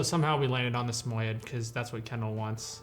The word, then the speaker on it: Samoyed: And the dog that we're looking at is a Samoyed. I pronounced it right?